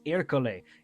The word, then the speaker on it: Ercole: Okay, somebody should punch me in the face because why did I pronounce his name Ercole? He is so unbelievably and ungodly funny. It's Ercole. It's Ercole.